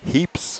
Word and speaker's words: Heaps: Heaps. Heaps, okay. As in a heap of stuff.